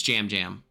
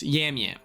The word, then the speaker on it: Jam Jam: Is it Yam Yam and it's spelled with J's, or is it J's and it's pronounced Yam Yam? It's Jam Jam. But it Jam Jam, but it's spelled okay. That's why I get confused. Yam Yam. No, Jam Jam.